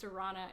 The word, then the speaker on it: Sarona: My name is pronounced Sarona. It rhymes with piranha, which is why I have this fancy Instagram handle of Sarona Piranha.